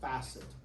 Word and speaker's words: facet: the superior articular facet some people also pronounce that facet but usually the pronunciation of that when you just talk about the individual structure you call it a facet that's a flat smooth